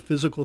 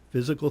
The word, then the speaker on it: FYZICAL: physical therapy and Rehab it's now called physical therapy and balance centers spelled F Y Z IC al physical therapy and balance centers we say it's spelled different because we are different and what we've done